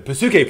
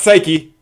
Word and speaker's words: Psyche: And gives us some handy exposition about the Pasuke processor. Not Psyche. Pasuke.